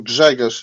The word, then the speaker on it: Grzegorz: I'm Greg, as Kenzo said, or Grzegorz, if you understand Polish and like to pronounce some tongue twisters.